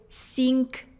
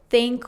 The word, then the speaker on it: think: That's why a lot of Russian speakers who try to speak English often say sink, sinks instead of think or thinks, just because we don't have this sound.